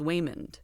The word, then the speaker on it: Waymond: Okay, so it's not Raymond being butchered by an Asian accent. It's his name is Waymond.